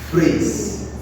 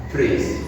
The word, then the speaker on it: phrase: So the proper and correct calling or pronunciation of this is phrase and not praise.